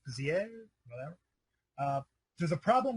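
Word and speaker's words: Béziers: Menard mayor of bers I believe it's pronounced bizier whatever uh there's a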